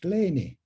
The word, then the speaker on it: Kleene: At that Congress, he remarked that his name should be pronounced Kleine because it comes from German Klein.